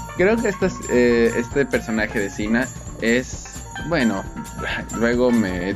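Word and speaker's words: Xena: Muy bien, vamos a empezar con esta gran, gran lista, con uno de mis favoritos, Sina, princesa guerrera. Y Sina, aunque suene así, lleva X.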